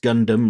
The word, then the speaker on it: Gundam: to answer you Mary Gundam pronounced Gundam like bubble gum I think I did